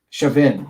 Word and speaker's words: Chauvin: Is it Chauvin? With like a short I or Chauvin? Chauvin. Let me see. It's always Chauvin.